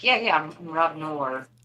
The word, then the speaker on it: Noerr: I was like, yeah, my last name's like the conjunction. It worked 0 times, but Yeah, it sounds like NOR.